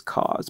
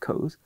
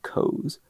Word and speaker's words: Koz: spelled koz so i always thought it was cause but it's not codes it's pronounced codes rich codes i was reading something uh before i started